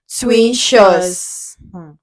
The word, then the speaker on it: Twintous: name of our Channel some people don't know how to pronounce exactly it's called twin shows one of our friends